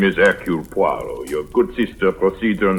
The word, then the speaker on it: Poirot: permitted the one slight correction my name is aru poo your good sister proceeds on the familiar English